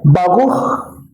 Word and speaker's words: baruj: En el hebreo, la palabra baruj, así se pronuncia, significa bienaventurado.